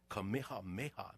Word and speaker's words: Kamehameha: say the name right kamehameha make sure you say it pronounce all the letters and he measured the